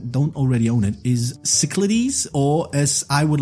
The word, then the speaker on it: Cyclades: would like to propose the so-called proper Greek pronunciation, Kyklades. So that's how it's pronounced, Kyklades. Yes, Kyklades. Have you got to do that TH thing with the D as well? Kyklades. Yes, because that's how you pronounce the letter delta.